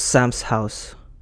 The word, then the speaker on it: Samsa House: so I can share it to everybody that's samsa house pronounce Sam's house s a m s a h o u